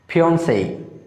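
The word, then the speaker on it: fiancée: খেয়াল করো দেখো এখানে যে সিই রয়েছে শেষে, তার জন্য এখানে এই সিম্বল হয়েছে। আমরা এটা আজকে থেকে প্রনাউন্স করব ফিয়ন্সেই। বন্ধুরা এই শব্দগুলো ফ্রেঞ্চ অরিজিনেটেড, সো এই শব্দগুলোর সেই জন্য একটু উচ্চারণ আলাদা বানানো অনুযায়ী।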